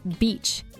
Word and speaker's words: beach: Well, one of our listeners told us a story about the word beach. B-E-A-C-H. The place with sand and the ocean. It has a long E sound.